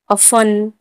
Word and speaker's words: often: जैसे listen, LISTEN, listen, listen में TEN है तो टी साइलेंट है तो इसे हम क्या पढ़ेंगे? लिसन। अफन, OFTEN, अफन।